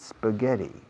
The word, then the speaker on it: spaghetti: How often do you eat spaghetti? How often do you eat spaghetti? Fijaos en la pronunciación de la SP de spaghetti. No pongo una E delante, no digo spaghetti.